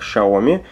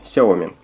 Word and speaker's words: Xiaomi: Друзья, сразу оговорюсь, что я знаю, как в Китае произносится слово, название компании Xiaomi произносится как Xiaomi, но для русскоязычного, скажем так, пользователя, наверное, привычнее будет произносить неправильный его вариант, как мы и делаем, Xiaomi.